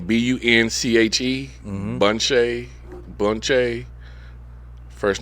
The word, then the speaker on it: Bunche: Ralph Bunche. Uh Well, spell the last name B U N C H E.